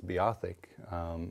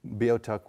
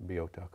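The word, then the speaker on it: Beothuk: vo-tech people now you might hear that word pronounced as be Ithaca which is is a typical English pronunciation for it but Bo tuck were algonquian-speaking people and they they would have pronounced it Bo tuck or bi tuck in some circles and what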